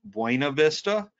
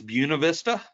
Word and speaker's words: Buena Vista: yankee or not so to everyone else this would be buena vista in virginia it's buena vista and buena vista was a mid-1800s master planned industrial community so even their name buena vista just means good view